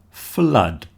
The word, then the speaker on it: flood: Flood. When there's too much water, you have a flood. And of course, the double O in the middle just sounds like a U. Flood. The same as blood.